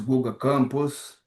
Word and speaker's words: Guga Campos: Like my name is Guga Campos, so thanks for receiving me here.